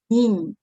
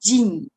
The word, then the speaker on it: 人: Okay, the first pronunciation, it is nin, nin. Okay, you can use it as a counter for counting people, like how many people. All right, the second one is Jin, Jin, nationality.